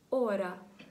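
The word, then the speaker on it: hora: Приклад може бути такий як «ора». «Ора». Тут він теж не вимовляється.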